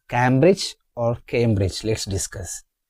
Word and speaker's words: Cambridge: Cambridge the the stress is on the first syllable Cambridge not Cambridge it's Cambridge came have you noticed the diff thong here came a came like c A M E in our word came Cambridge camer R I Z Cambridge camer repeat after